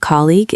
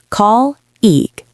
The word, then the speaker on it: colleague: Yes, the spelling of colleague is very strange, but the sound is actually very simple. It is? How many syllables does it have?